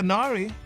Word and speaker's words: Nari: Say rhyme with Gary.